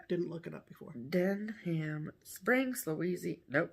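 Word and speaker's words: Denham: jeans no denim no it's d-e-n-h-a-m den ham den ham springs louisiana springs and where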